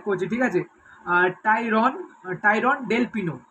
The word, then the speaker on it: Del Pino: যেই প্লেয়ারটি হচ্ছে 34 বছর বয়সী Spanish মিডফিল্ডের player টাইরন ডেল পিয়ানো। I think প্রোনাউন্সিয়েশনটা ঠিকঠাক করছে, ঠিক আছে। টাইরন টাইরন ডেল পিনো, সে যাই হোক, টাইরন ডেল পিনো।